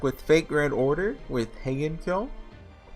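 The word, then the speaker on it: Heian-kyō: Hello everyone, we're back with Fate Grand Order with Heian-Kyo. I've realized I've been saying it wrong. It's just I have it so ingrained. It's Heian-Kyo. So, I'm just saying Heian. Close enough, right?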